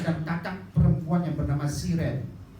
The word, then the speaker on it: Sirin: Ketika menginjak remaja, Maria dan kakak perempuan yang bernama Siren. Enggak tahu bacanya Sirin apa Siren ya? Sirin. So bahasa Arab itu sin ya ro ya nun. Enggak ada harokatnya kan? Sirin, Siren, Seren, Seren.